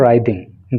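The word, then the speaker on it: writhing: देना इस वर्ड के इस वर्ड का प्रोनंसिएशन होता है राइडिंग डब्लू यहां पर साइलेंट रहता है और इसका हिंदी मीनिंग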